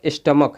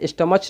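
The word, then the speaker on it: stomach: ये च नहीं है, स्टमच नहीं है, स्टमक है, क है, ठीक है। इसका प्रोनाउंसिएशन क होता है, स्टमक।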